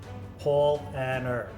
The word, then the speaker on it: Paulaner: are going to be talking about polana paul and er that's how they say it that's how christian danke told us to say dante one of the